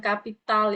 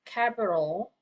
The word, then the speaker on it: capital: Okay, capital. Bukan kapital ya, capital.